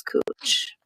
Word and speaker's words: Couch: It's Cooch Street, but it's couch. Reach on the corner of Cooch. It's spelled couch, but the pronunciation is Cooch.